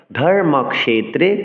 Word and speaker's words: ধর্মক্ষেত্রে: এই কিয়কে স উচ্চারণ করতে হবে, অর্থাৎ ক আর মূর্ধন্য সুযোগে যেহেতু এই যুক্তাক্ষরটি হচ্ছে, ফলে ক এবং মূর্ধন্য ষকে স্বতন্ত্র উচ্চারণ করতে হবে, স উচ্চারণ করতে হবে এবং বলতে হবে ধর্মক্ষেত্রে কুরুক্ষেত্রে।